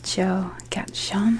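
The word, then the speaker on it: Joe Gaetjens: oh sorry this is um joe gatchon i believe his name's pronounced um and he was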